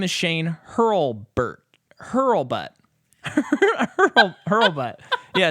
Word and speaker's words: Hurlbut: His name is Shane Hurlbutt. Hurlbutt. Yeah, it's Shane. How do you spell it? It's Hurlbutt. It's Hurlbutt. Hurlbutt. Maybe Hurlbit. But it's a U. Hurlbutt.